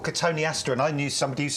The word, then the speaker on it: Cotoneaster: There was a famous shrub called Cotoneaster, and I knew somebody used to call them Cotoneasters.